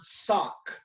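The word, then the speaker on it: sawk: We're going to elbow, and we're going to say the word sock. S-A-W-K. Sounds exactly like, pronounced exactly the same way as what I'm wearing on my feet.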